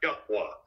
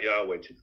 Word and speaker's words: Yahweh: the most high God yahwa that's his pronounce the name it's not Yahweh yahwa that's how you say it in the Paleo hebraic or Aramaic tongue so they uh retained